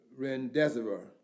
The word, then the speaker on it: remdesivir: Remdesivir is the way it's pronounced.